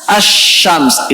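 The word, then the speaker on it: الشمس: Contohnya misalnya asyams. Tulisannya al-syams. Tulisannya al-syams. Bacanya asyams.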